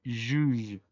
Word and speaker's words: juge: Y la G con E, recordemos que tiene el sonido débil, por lo tanto se pronuncia igual que la J. Y la E, al ser muda, pues no tiene, al estar al final y no tener acento, pues es muda. Por lo tanto, la pronunciación es juge, juge.